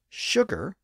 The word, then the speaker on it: sugar: actually stuck that's why the word sugar spelled s u g a r is pronounced with an initial sh sound today and that's also